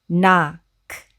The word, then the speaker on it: knock: 일단 KN에서 K가 묵음이니까 여기 이 부분은 네 라고 발음을 하고요. 그리고 CK 먼저 읽어보면 CK는 합쳐서 덩어리 철자로 어떻게 읽죠? 네, 라고 읽습니다. 우리가 이전에 배웠죠. 그리고 이 오는 오의 가장 흔한 대표 소리는 오도 있고 아도 있는데 사실 아로 소리 나는 경우가 더 많고요. 그리고 이렇게 오 다음에 CK가 오면은요. 오는 아로 읽으시면 됩니다. 그래서 이 단어는 knock, knock, knock 라고 읽으시면 돼요.